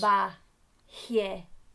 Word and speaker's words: trabajar: The intonation at the end of trabajar indicates strongness.